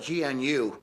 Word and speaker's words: gnu: Because our neighbor next door had this big thing, you spell it G-N-U, I guess it's pronounced new, but he called it a GNU.